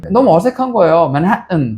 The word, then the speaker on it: Manhattan: 그냥 맨하탄 그래요. 한국 사람들 그냥. 네. 맨하탄은 미국 사람들도 알아들으니까. 근데 미국 애들은 맨하튼. 맨하튼 혹은 맨하튼.